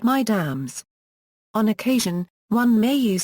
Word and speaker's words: Mesdames: Mesdames addresses many women. Pronounced Mesdames.